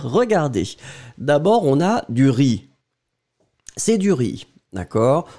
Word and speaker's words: riz: Regardez, d'abord, on a du riz. C'est du riz, D'accord? On ne prononce pas le Z final.